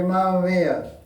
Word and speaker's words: mamma mia: They say Mamma Mia.